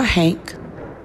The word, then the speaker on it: haint: I'm referring to none other than the Haint, or Hank, depending on how you say it.